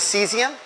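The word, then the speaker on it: caesium: 55 is seesium cs. Oh, how do you spell it?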